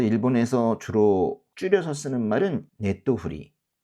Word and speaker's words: ネトフリ: 그래서 일본에서 주로 줄여서 쓰는 말은 네토후리. 요 작은 째 있죠? 요게 지금 없는 거예요. 그래서 넷토가 아니라 네토후리. 어떤 분들은 이 토도 생략을 해서 네우리라고 읽기도 한다고 하는데, 그래도 일반적으로 많이 쓰는 그런 약칭은 네토후리입니다.